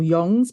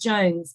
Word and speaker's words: Jonze: and producer Spike Jonze, or Yongs maybe. I think it's pronounced Jones because I love Jackass and both of them do Jackass. What, Jongze? Yeah, Jones. Spike Jones. I'll take the flak if it's not Jones.